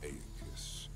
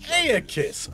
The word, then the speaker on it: Aeacus: I'm Aeacus. That's how you say his name. Aeacus.